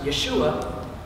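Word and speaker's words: ישוע: His name, actually pronounced Yeshua, in the Aramaic that they were speaking in the day, means Yahweh, or God, is salvation.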